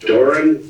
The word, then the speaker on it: Doran: hope you L yes and Miss dor it's pronounced Doran d o r a n okay where did